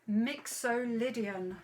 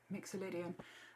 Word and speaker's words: mixolydian: off on your photocopy mixolydian let me show you let me show you that word mixer lydian mixolydian um have we got